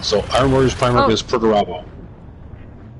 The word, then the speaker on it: Perturbo: So iron warrior's primark is perturbo. Who? Pertoo. What about it though? People call him Peter Turbo cuz it's similar to how it's spelled.